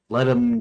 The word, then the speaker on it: Ludum: Let him dare or however it's pronounced. I'll say loomed because that's the way I've always pronounced it in my head even though it's not a proper like Latin pronunciation or something.